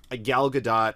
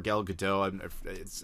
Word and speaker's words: Gal Gadot: I like Gal Gadot, or Gal Gadot, I've heard it pronounced both ways.